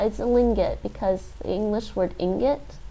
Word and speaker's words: lingot: It's a play on lingo and ingot, I'm pretty sure. Lingo and ingot. And you get lingot, which rhymes with ingot.